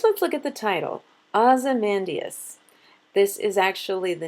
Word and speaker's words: Ozymandias: So when he says Ozymandias, he fits just 10 syllables on his line. If he said it the way I say it, then he would have an extra syllable and it would not fit the pattern.